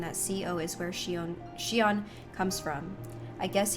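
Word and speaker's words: Xion: I Yeah, I think it's Shon. So, I feel like the way that they all said it was Shon.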